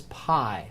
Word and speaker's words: pi: that's going to go the letter is pi we pronounce it with P two words two names